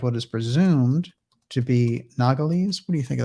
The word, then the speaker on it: Nogales: you're good on those i think it's nogales nogales i like that yes okay nogales presumed to be nogales and try this one